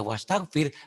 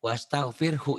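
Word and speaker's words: واستغفره: Kalau mmm, dia baca wastaghfir, berarti dia menghilangkan Allah, udah nggak beres sholatnya. Wastaghfirh. Makanya daripada salah, jangan berhenti di situ. Jadi mmm, bacanya wastaghfirhu innahu.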